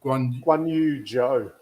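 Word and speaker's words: Guanyu Zhou: Guan Yu Zhou.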